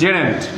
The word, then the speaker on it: gerund: Pronunciation is gerund, not gerund. Gerund.